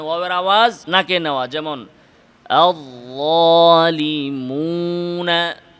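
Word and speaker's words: الظالمون: ওয়ায়ের উচ্চারণের সাথে গুন্নায়ের মিশ্রণ ঘটানো, মানে ওয়াওয়ের আওয়াজ নাকে নেওয়া, যেমন আয-যালিমুনা, মুনা, মিম নাকে যাবে কিন্তু ওয়াও যেন নাকে না যায়।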